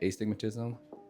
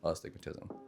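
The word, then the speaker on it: astigmatism: So I say aigmatism and she yells at me cuz it's pronounced a stigmatism.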